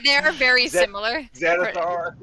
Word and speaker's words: Xanathar: One's spelled with an X and one's spelled with a Z, but they start off the same. They sound the same, yeah.